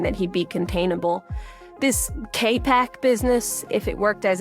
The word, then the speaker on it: KPC: It is more commonly pronounced KPAC.